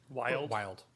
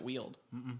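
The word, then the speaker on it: Wyld: Wild. I think that's how that's supposed to be pronounced. Oh, is it? I've always pronounced it Weald. No, I'm pretty sure that's wild I mean, this is a fucking fantasy game. Pronounce shit however the fuck you want. It's, you know, like when people spell vampire with a Y, it's literally wild with a Y instead of an I.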